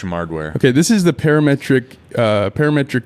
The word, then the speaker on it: parametric: The BlueCat Audio uh par how do you pronounce that? Parametric Q. Parametric.